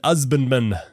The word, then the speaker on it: husbandman: And you know why it has an, right? Because H's weren't pronounced, right? Yeah, right. It was an husbandman. An husbandman, right?